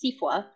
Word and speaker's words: SEAFWA: and Wildlife Agencies, which I'll refer to as SEAFWA. Although I hear folks in Louisiana last summer telling me it's pronounced SEAFWA, so we can argue about that during the Q&A session.